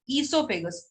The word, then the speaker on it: esophagus: See, the pronunciation is esophagus. O जो होता है वो silent होता है.